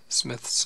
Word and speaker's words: Smyth: says that it's a smyth or smythe or smith's own depending on how you pronounce that word emma says the i is long but other authorities tell me that it's pronounced smith bible lies open and